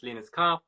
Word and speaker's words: Linus Karp: creative background yeah absolutely so my name is linus carr a pronunciation i am an actor and theater maker